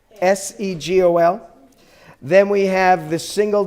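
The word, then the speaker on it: סֶגּוֹל: ah the next is the three dots that is the seagull it sounds like a se gol then we have the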